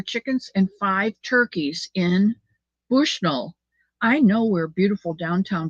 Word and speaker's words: Bushnell: we he called it Bushnell and I said don't don't let anybody hear you say Bushnell because it's bushnel you got to say it like one word you think he's